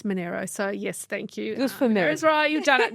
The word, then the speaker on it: Monaro: just as an aside do a lot of people call it Eden Monaro or is there am I saying it right even Monero is right and I